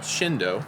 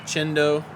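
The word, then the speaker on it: Chindo: is an evergreen viburnum it's called shindo some people pronounce it cendo c-h-i-n-d-o shindo chendo however you want to pronounce it but it's an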